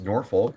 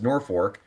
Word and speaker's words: Norfolk: It looks like it should be pronounced Norfolk, but it is pronounced Norfolk.